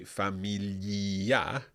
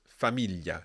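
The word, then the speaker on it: famiglia: yi um second rule the i is there just for spelling purposes so don't pronounce it um so for example with the word familia we don't say familia it's familia it's just there for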